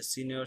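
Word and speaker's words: signora: ওকে, সো এইটার উচ্চারণ জি এন যখন আমরা দেখবো, এটা আমার বুঝতে অ্যাকচুয়ালি মোটামুটি 2.5 বছর লাগছিল। এটা হলো নিয় হবে, উচ্চারণটা কি হবে সিনিয়র।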